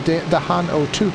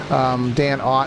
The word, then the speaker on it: Dan Ott: That is Dahan O'Toot there. Dan Ott in that number 29. I just like saying it wrong because it's a simple name, so saying it wrong makes me feel special.